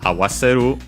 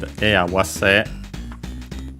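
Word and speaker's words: 合わせ: Okay, we'll check if I can find awase. By the way, awase on its own is luckily accented on the last syllable as expected according to the rules, because the original verb is accented.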